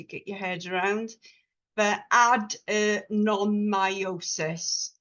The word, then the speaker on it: adenomyosis: your head around but add non myosis is the way you pronounce it and whereas endometriosis is